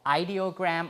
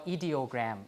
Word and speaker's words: ideogram: So out of the pictograms, we have what we call ideogram or ideogram. You can pronounce it both ways, ideograms or ideograms.